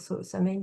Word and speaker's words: Samhain: la période de Samhain, qui se prononce Samhain, hein, mais je risque, je vais dire Samhain, parce que ce qu'on lit en français.